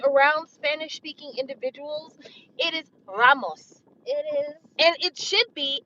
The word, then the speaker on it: Ramos: anyway you saw Anthony Ramos his name is spelled r-a-m-o-s Ramos it's not Ramos it's not right if it was Ramos it would be r-a-i-m-o-s though but it's not okay